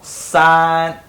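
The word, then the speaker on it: 三: Number 3, Chinese pronunciation called san. Do with me. San, S-A-N.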